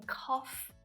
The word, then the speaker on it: cough: All of these examples, though sometimes it's not silent at all, like in cough and enough, where that GH is pronounced as a f.